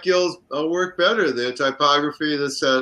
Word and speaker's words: Gill: Pronounce the name again. G-I-L-L. Let me. First name? David Gill, I think. Apparently. Oh, Gill.